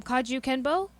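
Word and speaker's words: kajukenbo: k k e n b o so um kaju kenbo the ka ka is for karate ju is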